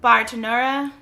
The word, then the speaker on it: Bartenura: last week, and this time I'm going to pronounce it correctly. Bartenura Moscato.